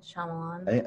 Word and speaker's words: Shyamalan: Shyamalan. M. Night Shyamalan is a really good writer.